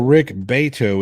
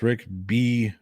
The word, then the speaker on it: Rick Beato: At the plot hole, Rick Beto is pronounced Rick Beato.